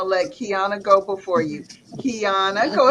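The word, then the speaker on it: Qiana: on my Facebook page my name is author Keana the same spell q i a n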